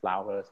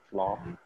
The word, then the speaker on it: flour: But the not the pronunciation is flour, not floor.